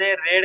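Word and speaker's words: read: तुम्हाला सांगायच याची पण स्पेलिंग सेम सेम बरोबर पण याला वाचता वेळेला काय वाचायचे प्रोशन काय करायच रेड करायच रेड रेड रेड रीडिंग आणि इकडे काय रीड्स समजून घ्या व्यवस्थित काय करायच प्रोन्सशन तर स्पेलिंग सेम आहे पण हे रेड का करायचे कारण की हे पास्ट मध्ये असत किंवा क्रिया पूर्ण झालेली अस दाखवण्यासाठी आपल्याला काय वापरा लागत रेड वापराव लागत समजल का मेक मी्स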